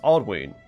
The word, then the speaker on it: Aldwyn: Aldwyn is pronounced Aldwyn because of the long vowel sound on the Y.